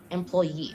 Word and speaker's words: employee: Next, employee. Well, in the rule of three syllables, none any syllable can be stressed. So here, e, employee. This is the most stressed one.